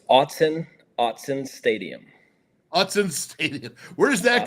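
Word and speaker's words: Autzen Stadium: now do me a favor go ahead and pronounce the correct way to say the stadium so it's Austin Austin Stadium Hudson Stadium where does that come from you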